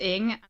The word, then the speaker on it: Ng: Her Twitter name is pronounced Ing.